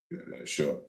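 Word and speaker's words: עשר: Ashar. Yeah, Ashar. Yeah, and that's really how you say it in the Hebrew.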